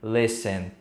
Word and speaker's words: listen: lessem lessem ou seja você não vai pronunciar esse te esquece que ele tá ali e pronuncia dessa forma tô fazendo lessem E aí vai ficar correto agora que você já